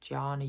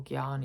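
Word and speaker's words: Jnana: So for example, if you're somebody who likes to read and um question um then Ganna, I think it's pronounced Ganna Yoga or Gana Yoga is probably a path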